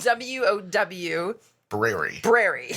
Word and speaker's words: Wowbrary: I don't think you're meant to say it aloud, but it's spelled W-O-W. Brary.